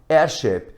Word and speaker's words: heirship: Mas na pronúncia, este H aqui é eliminado. Então pronunciamos our, som de vogal, honest, som de vogal, heir, som de vogal, heirship, som de vogal, honorable, som de vogal.